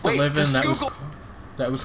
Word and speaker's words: Schuylkill: from PA if they pronounce it Scheukel, which is how it's spelled, but like it's not how you say it. Yeah, and in Dutch it's closer to Schuylkill. Google. Schuylkill. Yeah, Schuylkill.